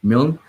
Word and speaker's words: Milne: his name okay yeah i've been saying mullane i was like that does not seem right at all milne he's a he's he's